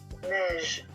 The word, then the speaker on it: neige: On observe ici ces deux lettres ensemble e i. Donc on va les lire ensemble et ça va produire le son e. neige. Neige et non pas neige ou quelque chose comme ça.